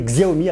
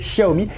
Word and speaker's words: Xiaomi: de la marque chérie que j'ai toujours tendance à prononcer xiaomi alors c'est chahoumi et on va en